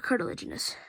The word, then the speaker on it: cartilaginous: card card legend carter genius yeah i can't pronounce this word cartilaginous cartilaginous fish yeah there we go cartilaginous they have skeletons made of softer cartilage the